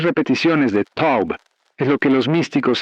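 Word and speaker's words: טוב: final del Salmo 23, pero pronunciada en hebreo tiene un poder multiplicador que en español se pierde completamente. La palabra es Taub, que David usó cuando escribió «Ciertamente el bien me seguirá». Pero Taube no significa simplemente bien,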